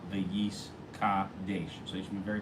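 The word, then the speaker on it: וְיִתְקַדַּשׁ: very focused, and make sure that you really pronounce Yis Gadel the Yis Kadesh.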